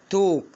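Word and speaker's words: talk: بالظبط، يبقى كأن الاي والال هنا يا جماعة كده باكج مع بعض انطقهم او، ماليش علاقة بالال تكتب ولا تنطق. يبقى الكلمة هنا ايه؟ توك.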